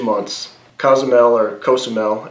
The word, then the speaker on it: Cozumel: KSML or Kosamel as it's pronounced by locals is has about 100,000 people.